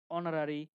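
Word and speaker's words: honorary: উচ্চারিত হয় না তখন তার পরে থাকা ওর উচ্চারণ হয় তাই না অনার অনারারি আর কি কি আছে আওয়ার এ সকল ক্ষেত্রে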